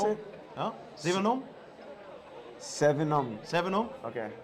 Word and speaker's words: Sevenum: Sevenum? Okay. Like 7 and UM.